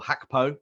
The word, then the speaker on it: Gakpo: I actually think that gakpo or hakapo you're right that is the Dutch pronunciation I think that he